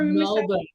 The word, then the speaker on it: Melbourne: Men, pronounce it for Melbourne, Australia.